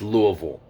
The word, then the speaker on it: Louisville: hell you're talking about when you say louisville it's louisville that's how it's pronounced and that's just how